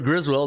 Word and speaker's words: Griswold: All right, Cooper Griswold, not Griswold. 3-2, 3.92 ERA. Boston 6-9 though in their last 15 trips to Old Comiskey. 4-9-2 to the under, and Cooper Griswold 3.92 ERA, and Boston 14-6 against C-type teams.